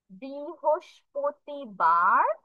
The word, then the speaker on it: বৃহস্পতিবার: এইটা একটু কঠিন উচ্চারণ করা, বাট আমরা কয়েকবার প্র্যাকটিস করলে it will be all right. তাহলে দেখি কি কি হয় উচ্চারণ। বৃ হোস পতি, বৃ হোস পতি বার, বৃ হোস প্রতিবার।